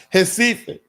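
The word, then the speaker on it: Recife: the northeastern region of Reie or as they as the Portuguese pronounce it, Hif.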